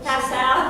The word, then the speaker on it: Passau: And I don't know how to pronounce this, Passau, P-A-S-O. That's easy. It's beautiful. Passau, that's it, that's Yeah.